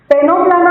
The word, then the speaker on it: Ctenoplana: टेनोप्लाना में सी is silent, so 2 examples, Pleurobrachia and Ctenoplana.